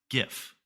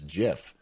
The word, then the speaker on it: GIF: we all know that you say it as gif i do but yes crazy people say it as jiff it's uh jay-z is the word you're looking